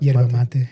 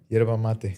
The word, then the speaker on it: yerba mate: Yerba mate? Yerba mate, yeah. Yerba mate.